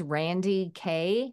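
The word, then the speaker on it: Randye Kaye: so my name is Randy K and both of them are spelled with a y e the E are silent but I talk a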